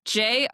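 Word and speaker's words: Jörmungandr: Yeah, no, but I love the tie to, how do you say the Jormungandr? Jormungandr? I feel like I've heard that before. How do you spell it? It's Jormungandr.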